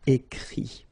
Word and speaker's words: écrit: Remember that even if you've got this final t, you don't pronounce it, so it goes like écrit, okay.